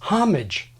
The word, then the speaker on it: homage: 50s tell us that this word is homage nativized like hostage but more recently Americans have tended to de-nativize it turning it into homage or something between the